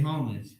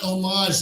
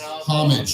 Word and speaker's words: homage: You gotta pay homage. Thank you for pronouncing that right. It's not homage, those fucking French smelly people.